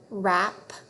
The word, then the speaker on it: wrap: Remember when W is followed by R, the W is silent. So we just hear the sound. Ready? Wren, wrap, wreck.